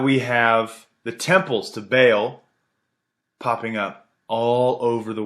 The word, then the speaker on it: Baal: B-A-A-L. I say Baal. Apparently it's pronounced Baal.